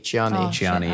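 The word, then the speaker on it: Chani: Chiani, yeah. So Chiani's like Chiani.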